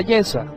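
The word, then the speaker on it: Yeshua: buscaban falso testimonio contra Yesua, es decir, contra Jesús. Así se pronuncia en hebreo el nombre de Jesús.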